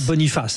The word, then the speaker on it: Boniface: Pascal Boniface hein. Bien sûr, on va le prononcer à la française he puisque Pascal est français bien sûr.